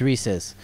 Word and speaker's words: Reese's: lion and a rhino it's Reese's it's Reese's and and let me just it's recess forward in Canada there's no s and it's just Reese English no yeah what